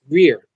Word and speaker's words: Greer: It is pronounced Greer, as in William Greer, who played Grandpa Waltons on the Waltons.